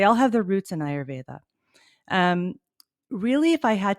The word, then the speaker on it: ayurveda: our audience can you tell us what is ayurveda and and correct me if i pronounced it wrong no you you said it